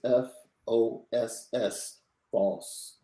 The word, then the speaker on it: Foskey: The correct pronunciation is Foss, Foskey. We got to make sure we say that correctly. Isaiah Foskey. You got that right, LL Nation? It's not Foskey, Foskey. It's Foskey. Hold that S a little bit longer.